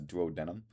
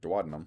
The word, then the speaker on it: duodenum: Um, but like in high school when I learned that word, I was pronouncing it as duodenum. Uh, and then my teacher was like, "Duodenum."